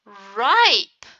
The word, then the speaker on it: ripe: What will happen when I add the magic E? Rip will turn into ripe. Ripe. The short I turned into a long I.